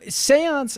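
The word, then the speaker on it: séance: seance was pronounced because the seance is spelled like seen but it's not pronounced like scene so it doesn't make any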